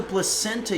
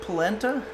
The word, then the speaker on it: polenta: Torton Official says, did you start the placenta yet? No, we realized that I was pronouncing it wrong. It's called, what was it, polenta?